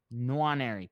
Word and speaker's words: Nwaneri: I don't know how to say his name, but you know what I'm talking Nwaneri. about. Nwaneri, perfect. I think he's been a